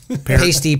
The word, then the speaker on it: Peart: Nobody can pronounce his last name. Is it, it's Appa, is it Potato, Peart.